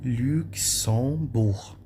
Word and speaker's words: Luxembourg: Luxembourg. Não pronuncia a letra G. Luxembourg, tá?